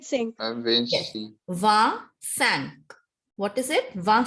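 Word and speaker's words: vingt: So G is silent here. And T is also silent.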